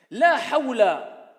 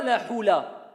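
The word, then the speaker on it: لا حول: La hawla, ce n'est pas la hula.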